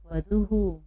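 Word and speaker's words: वधूः: ठीक है, वधू में हमने लगा दिया विसर्ग, तो यहाँ पर भी हुकार का ही उच्चारण होगा। तो हम इसको वधू को क्या पढ़ेंगे? वधूहु। क्या पढ़ेंगे?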